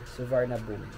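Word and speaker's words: Suvarnabhumi: niya is suvarna boomi pero that was it will be pronounced as silent R suvarna boomi inter perfect date of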